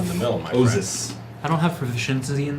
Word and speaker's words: Oizys: For the record, the name of the spirit that they were talking about is an Osis, S or Z.